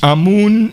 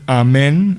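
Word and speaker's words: Amun: where sakana from are they all from egypt a moon is a proper pronunciation yes but it is also known as amen as you say in the prese as the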